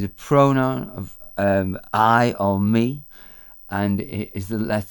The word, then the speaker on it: mi: Me, M-I, it means I or me. Pronounced the same way. Me in English, me in Welsh, me.